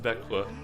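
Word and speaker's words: Växjö: I mean, I don't know Swedish, but all I know is that the word that looks like Vax Joe is pronounced bequaqua.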